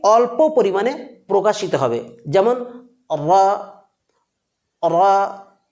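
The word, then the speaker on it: ر: মাখরাজটা ঠিক এইরকম হবে জিহবার কিনারা এবং তার বরাবর উপরের তালুর সাথে লাগিয়ে অর্থাৎ নুনের মাখরাজের কাছাকাছি লাগিয়ে র বর্ণটি উচ্চারিত হয় প্রিয় বন্ধুরা র বর্ণটি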